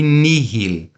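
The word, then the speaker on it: nihil: é mudo a gente só fala o h pronunciamos o H em duas palavras apenas na palavra Miri que é para mim e Nil que significa nada ok e o restante das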